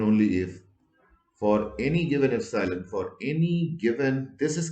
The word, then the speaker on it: epsilon: if c law and pronounce this is a greek word pronounces epsilon and this quantity is